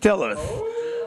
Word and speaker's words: Steelers: for everyone what is a steeler a stiller they're pronounced stillers stellars that's that's the pittsburgher way of saying steelers but we call them stillers